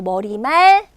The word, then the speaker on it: 머리말: 헷갈려 하시는 분들이 있는데 머릿말 아니 왜 머리만 입니다 발음도 머리말 같이 묶어서 왜 의심 좋은게